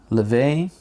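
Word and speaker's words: Laufey: Laufay. Like lay and then vey.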